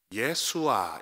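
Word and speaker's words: ישועה: 번역된이 단어가 음성 자체로 우리 히브리어 음성 자체로 발음한다면 예수아 있니다 예수아 그러니까 이것을 예수라고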